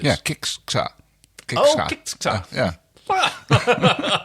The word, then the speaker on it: Kixxa: Kixxa. I'm not sure. Yeah, well, I'll just try to pronounce it the Finnish way and go Kixxa. But there's 2 X's. Yeah, Kixxa.